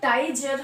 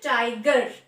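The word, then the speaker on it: tiger: তাহলে এটা হিসাব মতো টাইজার হওয়ার কথা, টাইজার, কিন্তু এটার উচ্চারণ হচ্ছে টাইগার, টাইগার। জি এর পরে ই আছে কিন্তু এটা এক্সেপশনস, এটা রুল মেনটেন করে হচ্ছে না, তার জন্য এটার উচ্চারণ হবে গ, টাইগার, টাইগার।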